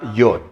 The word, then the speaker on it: Yod: Esa es la letra Yod, que se pronuncia como una I, ¿no?